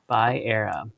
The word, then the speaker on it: Va'era: Va'era.